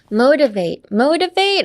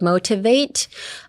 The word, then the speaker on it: motivate: Motivate also, instead of pronouncing the T literally like motivate, I would say pronounce it more like a D, like motivate. I'm gonna motivate you, motivate yourself. So change the T in your head to a D, motivate.